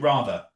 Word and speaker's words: Radha: So yes my that that's the correct pronunciation rather.